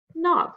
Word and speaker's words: knob: for this week so when we see k n k is silent we use the n sound vowel sound the word is knee ah the word is knob like a door knob